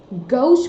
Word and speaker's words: gauche: Gauche pronounce करते हैं Gauche, we pronounce it gauche.